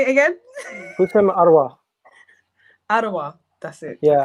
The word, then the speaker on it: Houssem: Houssem, Aouar.